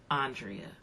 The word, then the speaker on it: Andrea: Andrea.